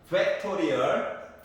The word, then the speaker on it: 팩토리얼: 팩토리얼 발음이 안 좋구나. 팩토리얼.